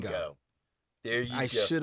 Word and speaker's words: Django: The D is silent. Thank you. I Oh, like apologize. like in in Django. Django.